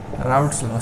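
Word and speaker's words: Raoult's law: राउल्ट्स लॉ, spelling पे मत जाइए, भावनाओं पे जाइए, भावनाओं की कदर होनी चाहिए। राउल्ट्स लॉ, ठीक है, किस तरीके से प्रोनाउंस कर रहे हैं उस चीज़ पे जाओ, राउल्ट्स लॉ, ठीक है।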